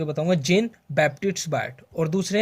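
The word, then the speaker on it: Jean-Baptiste Biot: इसका जो बैप्टिस्ट है वो प्रोनाउंसिएशन थोड़ी डिफिकल्ट सी है, लेकिन मैं दोबारा बोल के बताऊंगा। जेन बैप्टिस्ट बायट।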